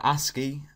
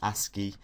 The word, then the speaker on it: ASCII: So ASCII, that's how it's pronounced, ASCII, which stands for American Standard Code for Information